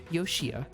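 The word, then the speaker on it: Yoshiya: mistaken about my name the proper pronunciation is yoshia or for my first name is my last so uh joshua not exactly accurate this isn't the joshua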